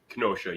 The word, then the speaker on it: Kenosha: can how do you say the name Kenosha Kenosha yeah That's Where It's At You never heard